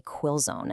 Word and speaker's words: quill zone: The core of this blueprint is something called a quill zone. And yeah, you say it like chill zone.